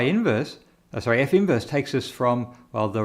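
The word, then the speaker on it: f⁻¹: for it looks like that's a negative 1 power but in fact this should be pronounced as f inverse and these two together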